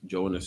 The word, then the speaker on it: Jonas: Christ called about Jonas, because the New Testament is written in Greek. And that's how you pronounce Jonah in Greek, Jonas, you know what I mean?